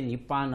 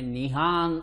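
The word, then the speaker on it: 日本: ಕುಕು ಆಗಿತ್ತು ಸರಿಯಾದ ಉತ್ತರ ನಿಪ್ಪಾನ್ ಅನ್ನೋ ಶಬ್ದವನ್ನು ನಾವು ಇಂಗ್ಲಿಷಲ್ಲಿ ನಿಪ್ಪಾನ್ ಅಂತ ಹೇಳಿಬಿಡುತ್ತೇವೆ ಆದರೆ ಅವರು ತಮ್ಮ ಜಾಪನಿಸ್ ಭಾಷೆಯಲ್ಲಿ ಅವರು ಮಾಡುವ ಉಚ್ಚಾರ ಸ್ವಲ್ಪ ಹೆಚ್ಚು ಕಡಿಮೆ ನಿಹಾನ್ ಅನ್ನೋ ರೀತಿ ಕೇಳಿಸುತ್ತಂತೆ ಅದು ಇದರ ಅರ್ಥ ಏನು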